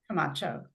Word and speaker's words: Camacho: do you pronounce it Camacho? Camacho.